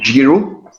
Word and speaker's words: Giru: really great deal, it's Geru. Let me just type it out, you can check it out. It's called Giru, if we go in how we pronounce it.